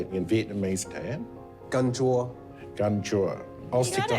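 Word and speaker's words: canh chua: Gan chua.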